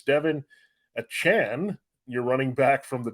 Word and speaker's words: Achane: I know he asked for it not to be Achane, which we all were calling him, but it's Achane? A cane? How do you say it? It's like a Chan, like Jackie Chan.